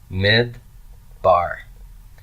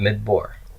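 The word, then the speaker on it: מִדְבָּר: longing I commit so how will I pronounce this mid bar not mid Bor mid bar mid bar all right let's look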